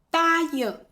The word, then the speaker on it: 答应: 实际上这个字它是答这个发音，但口语里面发第一声只有这个词需要单独记忆。